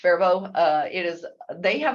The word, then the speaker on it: Faribault: for a few years Faribault Minnesota yes that is pronounced fervo uh it is they